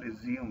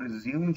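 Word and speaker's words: résumé: हम प्रोनाउंस करते हैं रिजूम में ठीक है लेकिन जतर लोग इसको रिजूम रिजूम प्रस कर रहे होते हैं ठीक है लेकिन इसके जो प्रसन है व रिज्यूम जो व इंग्लिश कवर्ड है ठीक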